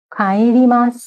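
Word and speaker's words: 帰ります: খায়েরিমাস। খায়েরিমাস, এটা কায়ের উচ্চারণ একটু খায়ের মতো হয়।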